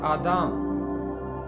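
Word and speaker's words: אדם: باپ، یعنی حضرت آدم۔ آدم کا عبرانی تلفظ ہے آدام۔ آدام کا مطلب ہے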